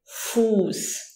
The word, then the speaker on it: Fuß: Here you have to watch out when there is a vowel before that SZ, it prolongs the vowel. So, for example, we say Fuß.